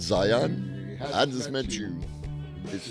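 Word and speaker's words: Zeihan: Oh, it's pronounced Zion?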